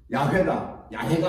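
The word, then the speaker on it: יהוה: 여호와로 바뀌었는데 그 여호와라고 하는 이름이 독일 사람들은 예호바라고도 읽어요. 예호바라고도 읽고 우리 여호와라고 읽고 또 요 근간에는 다 틀렸다. 그 말이 틀렸고 야훼가 맞다. 이렇게 학자들마다 주장하는 게 달라요.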